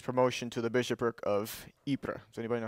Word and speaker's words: Ypres: First World War, but it's spelled like that, pronounced Ypres. But when English soldiers marched into the town during the war, they called it Wipers.